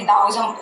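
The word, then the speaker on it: Daoism: जिसको बोलते हैं कि ऑब्वियसली दाओइज्म प्रोनाउंस करते हैं पर लिखते ताओइज्म में, तो दाओइज्म में ये साफ साफ लाओ त्सु ने साफ साफ कहा है just go with the flow.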